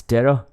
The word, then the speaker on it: tera: please pronounce this correctly this is not theta this is terra and c is centi centi with a c not with an s okay now if